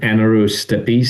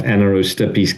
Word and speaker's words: Anaerostipes: So, the the one that we already have out out is called Anaerostipes. So, it's spelled like Anaerobe, a n a e r o s t i p e s, Anaerostipes.